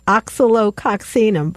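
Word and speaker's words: Oscillococcinum: If you get it, and how we pronounce this is oxalococcinum.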